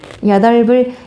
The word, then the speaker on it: 여덟을: 겹받침 중에 뒤에 것이 넘어가는 것이 훨씬 편하겠죠? 그래서 이것이 그대로 올라가니까 발음 어떻게 된다? 여덟불 이상해 보이지만 여덟불 맞는 발음입니다.